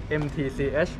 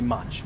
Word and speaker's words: MTCH: It's MTCH. Okay, so you don't say match. Yeah, don't spell. Okay, MTCH, easy.